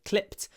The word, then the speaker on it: clipped: I clipped it I clipped the video I like the word clipped because we clip the vowel in the word clip so in clipped which is clip clip the I is clipped we call it clipping